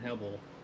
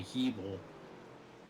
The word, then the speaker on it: Hebel: Gotta apologize to Jeremy Hebel. I've been pronouncing his name wrong from the start of the season. I've been calling him Hebel. It's actually Hebel. Evil? Yeah, I believe so. That's what. Yes, it is Hebel.